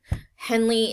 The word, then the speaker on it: Henle: nephron loop is the loop of henle henley is spelled h-e-n-l-e again if you discover